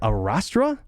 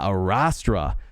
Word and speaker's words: Astra: Arastra? Yeah, Astra.